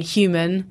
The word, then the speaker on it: HVMN: isn't it and and human of course hvmn is the way that it's spelled formerly neutr box and